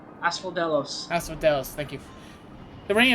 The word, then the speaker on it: Asphodelos: I couldn't pronounce the name of the place. Asperderos? Asphodelos.